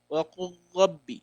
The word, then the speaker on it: وَقُلْ رَبِّ: وَقُلْ رَبِّ. See, I didn't pronounce the lam at all.